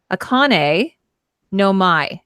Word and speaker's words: Akane no Mai: It's Akane no Mai is how you say it.